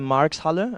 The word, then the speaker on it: Marx Halle: sneak peek into the arena already, into the Marx Halle. Am I pronouncing it correctly?